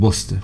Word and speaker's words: Worcester: And Worcester. Worcester's the one that always gets you guys.